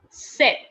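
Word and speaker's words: sept: guys that is scpt the p is silent there okay and it is pronounced like you know set set okay it is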